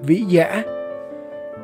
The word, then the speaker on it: Vĩ Dạ: Thực ra, nguyên thủy thôn này có tên là Vĩ Dạ. Chữ Vi trong Hán ngữ có nghĩa là lau sậy, còn được đọc là Vi hay Vi Lô.